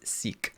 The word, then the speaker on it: Sikh: Yes, confirmed in the chat, it is Sikh.